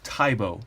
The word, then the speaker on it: Tibo: This is my second Tops knife, the Tops Tibo, or Tibo. I've heard it pronounced both ways.